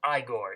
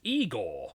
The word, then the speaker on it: Igor: named scallywag and igore and yes they pronounced it as igore in this film oh they told me it was eigor well they were wrong then weren't they so